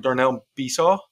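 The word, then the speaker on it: Darnell Besaw: not saying this wrong Darnell bauw I think is how you say it but young act she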